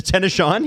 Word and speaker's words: Tennessean: last name sorry Alex well it's actually pronounced the tennan uh the Tennison yeah is that what